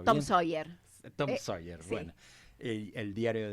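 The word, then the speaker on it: Tom Sawyer: Eh, eh Mark Twain, el famoso escritor estadounidense, autor de Tom Sauer. A ver, ayúdame a pronunciarlo bien. Tom Soyer.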